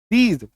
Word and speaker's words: these: इन, दीज, THESE, इसका देखिए उच्चारण क्या होता है, दीज, ज पे नुक्ता, दीज, ठीक है।